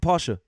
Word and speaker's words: Porsche: and sorry man and for porsche what i call porsche it's porsche correct pasha he's going to replace